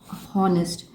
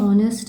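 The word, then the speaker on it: honest: This young man इज़ ऑनेस्ट। ऑनेस्ट this young man इज ऑनेस्ट ऑनेस्ट यहां पर जो ऑनेस्ट है obviously ऑनेस्ट ऑनेस्ट नहीं बोलते एच प्रोनाउंस नहीं होता इसमें ऑनेस्ट प्रोनाउंसिएशन आता है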